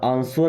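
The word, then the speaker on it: answer: okay, अगला word है आंसर, दोस्तों यहाँ पे डब्ल्यू साइलेंट होता है, आंसर नहीं पढ़ना है, आंसर,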